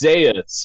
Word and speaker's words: Zaeus: All right, then how is it pronounced? Go ahead. Yeah, it's Zaeus after Zaeus.